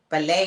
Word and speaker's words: ballet: I said yeah but so does the word ballet ballet has a t at the end and it's